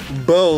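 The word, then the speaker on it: beaux: He just says, bo, like B-E-A-U-X. Bo.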